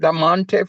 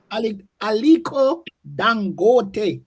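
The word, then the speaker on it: Aliko Dangote: Is it Damonte from South Africa?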